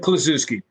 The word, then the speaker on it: Kluszewski: I'm sure Ted Kluszewski. Ted Kluszewski.